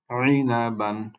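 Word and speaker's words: عِنَبًا: ইনাবান, ইনাবান, ইনাবান। পরবর্তী শব্দ, প্রথম লেটার হচ্ছে গইন, গইনের উপরে ফাতহা, কাজে এটার উচ্চারণ বা সাউন্ড হবে গ।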